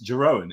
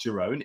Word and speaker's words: Jeroen: that's how you pronounce Jeroen. It's not Jeroen, it's Jeroen, I've found out recently, as some Dutch person told me, corrected me quite correctly.